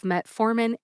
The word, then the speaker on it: metformin: about the pronunciations of metformin and glucophage glucophage is the brand name and Metformin is the generic name metformin has three syllables met as in I met Dr nerra